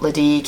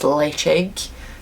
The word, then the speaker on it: Ledaig: And Ledaig, so we've probably done this in a video before, but it's not Ledaig, it's Ledaig. So it means safe haven or safe harbour in the way of pronouncing that word in Gaelic in Malt.